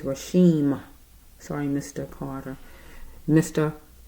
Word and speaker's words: Rasheem: say his name right okay it's an m at the at the end his name is rashim sorry Mr Carter Mr rashen Carter 25y old young